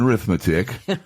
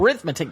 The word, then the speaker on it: arithmetic: Mary-Lynn, don't forget, they're reading, writing, and arithmetic. Yes. Got to say it right so that 3 R's kind of holds true. Right. So arithmetic, not arithmetic. Arithmetic. Exactly.